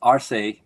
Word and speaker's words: Arce: It's Arce, but it sounds kind of like horsey.